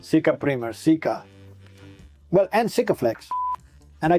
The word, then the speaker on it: Sika: Sika Primer, improve your pronunciation. Sika Primer, Sika.